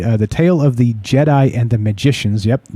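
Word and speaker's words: Djedi: the tale of the jedi and the magicians yep d-j-e-d-i pronounced a jedi uh the first few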